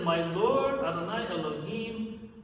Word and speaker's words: Elohim: our verse Elohim is spelled like the four-letter name but punctuated and pronounced Elohim this usually combines the